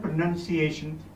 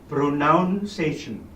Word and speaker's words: pronunciation: the word articulation and pronunciations go together notice I said pronunciation but quite often I hear people saying pronouncation now that's wrong so be careful how